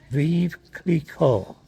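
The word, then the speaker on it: Veuve Clicquot: Then you're going to have to help me with the pronunciation. It's called Viv Cleico.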